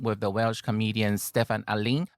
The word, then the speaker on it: Alun: the Welsh comedian Steffan Alun. Alun is a Welsh pronunciation. You'll see his name spelled as A-L-U-N.